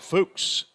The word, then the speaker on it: Fuchs: Wyatt Fuchs, F-O-O-K-S.